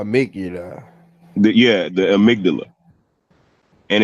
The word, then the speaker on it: amygdala: to say it is amygdala it's spelled amy godalla but it's called the amygdala it's basically like what